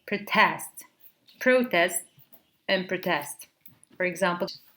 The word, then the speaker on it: protest: So when it is a noun, we say protest, and when it is used as a verb, we say protest.